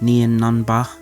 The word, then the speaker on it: Nien Nunb: So Leia and her crew, made of Nien Nunba, which is how they say it in the audiobook, so I guess that's how we're saying his name now, and 3 other team